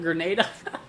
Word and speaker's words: Grenada: uh let see here Grenada is that Grenada okay Grenada is it like grenade but Grenada all right well I'll